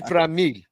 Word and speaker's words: Franmil: No, but you have to say Franmil. But you have to say it. In order to say it right, you have to say it in an accent.